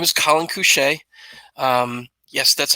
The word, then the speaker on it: Collin Cusce: about Who I am so my name is Colin coucher yes that's how you pronounce it it is I am a senior